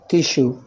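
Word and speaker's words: tissue: شوجر تمام نسيج اهي ادي الاس يو اهي جه قبلها حرف ايه ساكن جه قبلها ايه حرف ساكن فهتنطق ايه شين تبقى الكلمه ايه تيشو تيشو يعني نسيج جلسه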